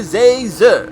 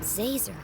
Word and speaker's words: Zazer: It's Professor Zazer, like laser, with a Z. How hard is that? Zazer.